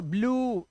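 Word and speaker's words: blue: उ ही पढ़ना है ये ब्लू ई साइलेंट क्लू लास्ट का ई तो वैसे भी नहीं पढ़ते ट्रू और ग्लू लास्ट का ई पढ़ते नहीं ये रूल समझ लो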